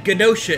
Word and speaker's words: Genosha: You're saying Genosha, it's J, like a J. Right, a Genosha. J. I don't know why I'm saying G. Well, it starts with a G, but it's pronounced as a hard G, which is the Oh, same I as know why, J.